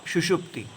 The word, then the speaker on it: सुषुप्ति: अवस्थाएं जागृत स्वप्न और सुषुप्ति पहले दो में मैं सुषुप्ति के स्पेलिंग गलत करता आया हूं क्षमा करना इसमें मूर्धन्य सकार सेरेब्रल श होता है तालव्य नहीं होता है तो अवस्था त्रय